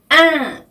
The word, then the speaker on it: un: 네, 이 n은요, 프랑스어로는 un 발음이 나요. un 이렇게 발음을 하셔야 되는데요. 에 발음을 코로 올려서 내는 발음입니다.